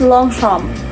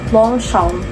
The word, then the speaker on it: Longchamp: Ah ang pag-pronounce pala dito is long shamp. Long shamp. Long shamp. Kasi nga French siya eh.